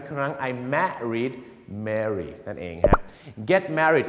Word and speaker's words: Mary: เสียง ยัง ไง ครับ Mary อัน นั้น มัน จะ ออก เสียง สระ เอ หน่อย ฮะ Mary อย่าง เช่น ถ้า ผม